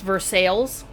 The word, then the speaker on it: Versailles: And sometimes there are names that are spelled the way they are pronounced in other places, like Versailles. In Indiana, it's Versailles, Right. or Versailles, Kentucky.